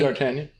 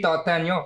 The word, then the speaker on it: D'Artagnan: D'Artagnan.